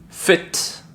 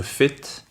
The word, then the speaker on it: fit: Vous avez la différence de prononciation entre fit, qui veut dire être en forme, être fit, fit, et vous avez feet, qui sont les pieds, ce qui est le pluriel de foot. Donc feet.